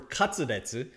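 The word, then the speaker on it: カツレツ: Ton means pork in Japanese, and katsu is short for katsudetsu, which is how Japanese people pronounce cutlet.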